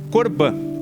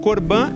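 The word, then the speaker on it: קרבן: palavra em hebraico eh tem uma transliteração que se que que fala-se corban corban é né como se fala em hebraico antigo né a palavra sacrifício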